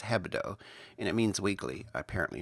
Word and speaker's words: Hebdo: They had inside information, obviously, because they knew when the editors of Charlie Hebdo, and I kept saying it, pronouncing it, putting the D first, it's Hebdo, and it means weekly, apparently in French, or French slang.